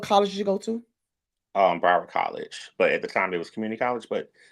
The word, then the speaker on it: Broward: Broward College. But at the time, it was community college, but it's called Broward College now.